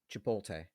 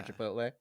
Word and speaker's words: Chipotle: Is it Sudoku, or is it Chipoltay? Does every person over 50 years old say Chipoltay? Yeah. For Chipotle?